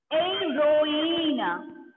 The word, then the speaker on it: héroïne: L'autre exemple, c'est héroïne. Heroine. Here, heroine. I pronounce that heroine. Why? H is beginning at the beginning. So H will be silent.